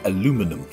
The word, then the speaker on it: aluminum: is known as aluminium, whilst in America you would pronounce it aluminum.